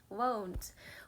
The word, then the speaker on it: won't: 발음은 want 아니고 won라고 발음해야 돼. Won't.